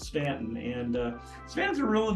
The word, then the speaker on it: Staunton: it was like well Staunton and we had to learn that it was it was yeah that that you does not eating letter it's a long a okay so but it's definitely pronounced Stanton and uh Savannah's a